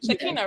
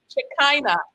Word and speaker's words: Shekina: Can I call you Shekina? Yeah. Shekina, right? That's the pronunciation. Shekina.